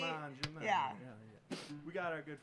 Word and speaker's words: Mangiamelli: Mangiamelli? Yeah, like right? manja, like you eat. Mangiamelli.